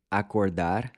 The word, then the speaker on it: acordar: Let's take the verb acordar as an example. The O in acordar is pronounced with a closed O, which is like the O in the English word cold.